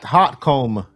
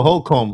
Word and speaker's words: Holcomb: Yeah, Brett Hotcomb. Is that how you say it? Oh, Holcomb. Holcomb.